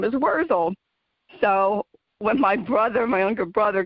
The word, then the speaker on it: Wurzel: So when my younger brother, got a little more sophisticated, he changed the pronunciation to Wurzel, but people put a T in there and call it Wurzel, but it's Wurzel.